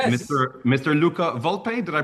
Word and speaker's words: Luca Volpe: Luca Vulp. Did I pronounce that correctly?